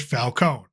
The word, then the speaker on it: Falcone: Now, I know, Falcone, depending if you're reading the comics or watching it on TV, there's different pronunciations. For this, we're going to go with Falcone.